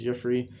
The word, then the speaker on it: Geoffrey: So, among the prelates were Geoffrey, and that's pronounced Geoffrey, of Langres, Simon of Noyon, and Arnold of Lisieux.